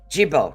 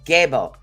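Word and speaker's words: Gebo: now most people would say hey this is Jibo no it's gabo so it's it's actually pronounced g a y a dashbo gbo now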